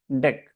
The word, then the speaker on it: deque: of deck it is it is not DQ actually the actual pronunciation is deck please remember that in